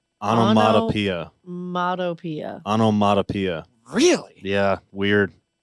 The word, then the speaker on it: onomatopoeia: we're all pronouncing it wrong okay can you pronounce it correctly onomatopoeia modopia onomatopoeia really yeah weird hit me too